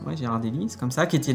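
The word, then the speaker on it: Ghirardelli: Je sais pas comment on prononce. Ouais. Gérardellie, c'est comme ça.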